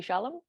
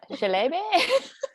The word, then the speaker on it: Chalamet: But I just imagined it as like Timothy Chalamet. How do you say that? No Shalom. idea. No, Chalamet.